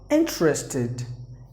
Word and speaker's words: interested: And the next word is interested. Interested. There are interested. 3 syllables are there in this word.